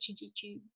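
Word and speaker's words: Chidgey: So just looking through the list, I'll start with Lord David Chiji here and then go on down the list. So Africa Programme, if you could enable Lord Chiji to speak, please.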